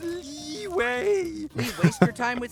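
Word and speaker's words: Liyue: ] up or what it's pronounced leeway we waste your time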